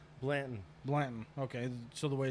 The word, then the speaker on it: Blanton: buddy how you say your last name Blandon Blandon okay so the way it's spelled um I haven't known you for too